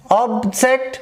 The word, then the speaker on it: object: When both words are playing their role as in verb, the trace changes from first syllable to second syllable. So it has also object 1, 2, perfect 1, 2.